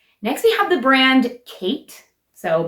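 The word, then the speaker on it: Ckite: we have the brand Kate so my name that's spelled very interestingly spelled like a Utah mom wood if you know what I mean spelled c k i t e I don't even know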